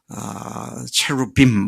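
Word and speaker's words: cherubim: 스랍, 체루빔, 이렇게 발음이 됩니다.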